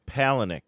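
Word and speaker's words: Palahniuk: Chuck Palick. Palenick.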